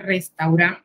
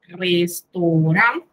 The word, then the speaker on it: restaurant: Le restaurant, no es restaurant, sino restaurant, porque recordemos que la combinación de A con O se pronuncia O y ese ANT, en, sonido nasal.